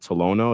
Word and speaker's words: Tolono: broke your scoring record in high school at Tolono. Is that how you say it? Yeah, Tolono Unity.